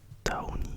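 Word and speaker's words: tawny: Ensuite vous avez le Taoni, alors ça s'écrit T-A-W-N-Y.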